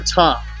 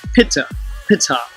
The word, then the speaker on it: Ptah: the deity called Ptah, or Ta, if you use the silent P, Pitta, which was phonetically pronounced Pitta, and I'll portray how